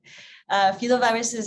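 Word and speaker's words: filovirus: answer your first question so fetal viruses i pronounce it a bit differently than you henry fila viruses are a family of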